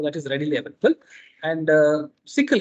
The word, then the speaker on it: SYCL: And sickle, SYCL is pronounced as sickle.